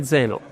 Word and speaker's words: Zenoh: Because people Super alien. call it Xenon, Yeah. but that's not how you would pronounce.